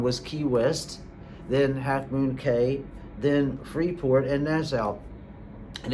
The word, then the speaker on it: Cay: Now, a lot of times people, when I say Halfmoon Cay, they go, oh, it's actually pronounced Key. I'm like, it's actually not. Carnival does actually pronounce it Cay, and that's why they've